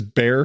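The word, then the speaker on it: Bexar: e x AR is bear county what what like Bex are I know yeah San Antonio was in bear County but it's bear with an X that's women as though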